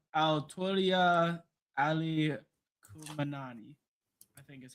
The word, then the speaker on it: Khamenei: The name Ayatollah Ali Khamenei, I think is how it's pronounced.